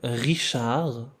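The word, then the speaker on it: Richard: French में सी एच की pronunciation श की होगी, जैसे कि इंग्लिश में एस एच की प्रोनाउंसिएशन होती है। तो एंड वाला डी भी हम नहीं पढ़ेंगे।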